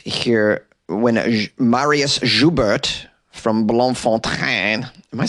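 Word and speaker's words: Bloemfontein: when Marius zubert from blon font am I saying it right it looks like it's begging to be pronounced with a French accent but probably not proper Blom Fontaine this guy didn't show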